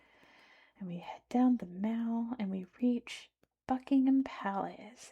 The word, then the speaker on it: Mall: But if normally you go through the regular arch here and you enter the Mal, not the mall, the Mau, that's how it's pronounced.